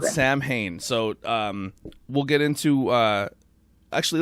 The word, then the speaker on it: Samhain: So, yeah, as everybody knows, it looks like Samhain, but it's actually pronounced Samhain, believe it or not.